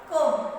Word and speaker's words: comb: Next, here comb. We will not say comb. What we say? Comb. C-O-M. C-O-M-E, come. How we pronounce C-O-M-E? Come. Here E also comes in the pronunciation. Here comb. So pronounce. B is not pronounced. B is silent.